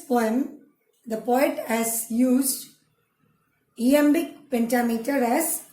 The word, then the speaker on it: iambic: It is written in iambic pentameter. இயாம்பிக் pentameter ஐ இருக்கு. ஐன்னு நீங்கள் அதை அயாம்பிக்னு சொல்லக்கூடாது. ஈன்னு pronounce பண்ணும் இதை.